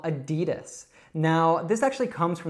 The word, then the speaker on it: Adidas: So Adidas. But we don't say it like that. We actually shorten it to Adidas.